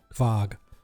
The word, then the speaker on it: Quag: tone it's sort of fog okay yes think think of k-v-a-g as opposed to q-u-a-g uh we i've been